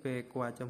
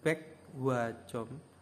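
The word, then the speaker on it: 백화점: pwajom bekacom ya bekacom ini jadi bekacom bukan bek wacom tapi bekajom bekajom ya pakai ya kioknya ini berubah menjadi k ya Eh KH ya maaf berubah menjadi KH pquacom ya pquacom itu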